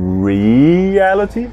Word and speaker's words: reality: Reality. Reality. Nem é. Reality. E nem é reality, não, é reality, a terceira do fim, que nesse caso é a segunda sílaba, reality.